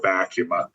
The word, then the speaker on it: ACUMA: It was owned by, among other credit unions, owned by Affinity Federal Credit Union, who I know is a long-term member of ACUMA.